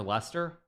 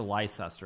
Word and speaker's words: Leicester: swear he plays for Lester or to be like an American he plays for lycester right I should I